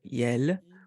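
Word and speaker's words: iel: which it's the pronoun yell and it's spelled i-e-l and it's a mix of ill and L and it's a it's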